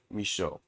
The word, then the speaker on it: Misho: me show us and let me show you how to say my name that's how you say it misho so today i want